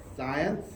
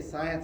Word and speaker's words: Zajonc: So, science, I guess I say science, it rhymes with science.